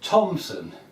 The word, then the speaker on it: Thomson: it's pronounced troop whereas my name is spelled thomson and it's pronounced thompson and nobody has a problem with that and nobody has a problem with that apart from Ron.